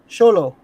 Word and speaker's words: Xolo: How you pronounce Zolo? Xolo Maridueña.